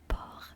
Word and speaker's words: porc: Meanwhile, the pig, which I was telling you about, tripe de porc, pig in French is said porc as well, but it's P-O-R-C, you know?